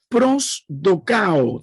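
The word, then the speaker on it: προσδοκάω: Y la palabra número 5, estas son la quinta palabra de esperar, es prodocao, prosdocao, tal como se pronuncia. La palabra prosdocao significa esperar, buscar, anticiparse con expectativa.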